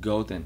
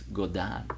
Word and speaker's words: Godin: some guy said like i can't believe you said golden guitar when it's go down let's go down and